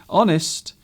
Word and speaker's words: honest: So an honest man, even though the H is not pronounced, we say an honest man.